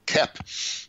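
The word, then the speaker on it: Koepp: yeah k-o-e-p-p he's so famous now that people pronounce his name correctly it's not cope it's uh kepp uh and he says he's written several at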